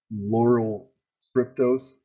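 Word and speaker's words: lauryl tryptose: tubes with sugar water a laurel tryptose is how it seems like it's pronounced so the bacteria will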